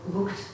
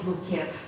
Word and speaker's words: looked: When you pronounce the verb looked, not look at, looked. Many again girls and boys want to say it like look at, but yeah, it's better to say looked.